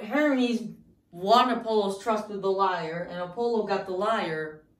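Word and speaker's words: lyre: went and then orpheus the liar and the liar this is how it's pronounced and this is how it's spelled i'm serious the liar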